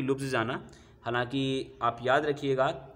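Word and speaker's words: Ljubljana: बड़ा इंपॉर्टेंट रहता है, अक्सर प्रोनाउंसिएशन में दिक्कत होता है। तो इसका जो नाम है लुब्लियाना के नाम से जानते हैं, लेकिन जे लगा हुआ है तो ज़्यादा कंफ्यूज मत होइएगा।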